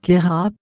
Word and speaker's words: Queyras: Le S final de Queyras est muet, alors que certains visiteurs le prononcent.